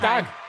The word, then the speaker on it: Dag: Did I pronounce that right? Is it Dag? Dag, yeah.